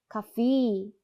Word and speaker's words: Kaffee: 여기서 A가 두 번 나왔잖아요. 이거는 이 A를 길게 발음해줘야 한다는 뜻이에요. 그리고 여기 아 같은 경우는 아 뒤에 자음이 두 개 나왔잖아요. 모음 뒤에 자음이 두 개가 나오면 모음을 짧게 발음해야 된다 했습니다. 그래서 여기서 아는 짧게 그리고 A는 길게 발음해 주셔야 합니다.